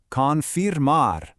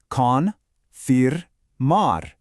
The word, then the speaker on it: confirmar: Confirmar. Let's really break that down. Say it nice and slow with me. Con Mar.